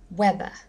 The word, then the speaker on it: weather: Weather, weather, weather. First syllable again.